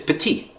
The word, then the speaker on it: Petit: Yeah, I called Remy Petite for the first time. And instead of petit, like I pronounced the last T.